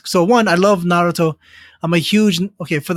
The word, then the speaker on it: Naruto: as I said earlier in Japanese there's no emphasis so Naruto like is not the correct pronunciation as I as I understand it well right Naruto is a very plain way to pronounce it okay cool so so